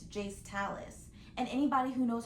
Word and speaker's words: Jayce Talis: It is not Jace Trails, it's Jace Talis.